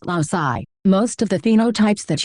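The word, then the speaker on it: loci: The plural of locus is loai pronounced loai.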